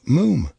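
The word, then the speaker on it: Mofam: told you father it's Mo moom it's spelled m o f f am but pronounce Mo to rhyme said Archie helpfully but with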